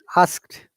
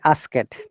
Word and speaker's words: asked: is ask then ask asked stress on d yeah this d sounds like t honestly and asked when